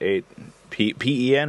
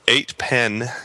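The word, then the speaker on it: 8pen: In Utah, we pronounce it pen. Yeah, I know. I've got a lot of flack over that. No. We live in different parts. Tony would pronounce it differently because he lives way over there. Yeah. So 8-pen is how we pronounce it. In Super Carolina, P-E-N and P-I-N are pronounced exactly the same.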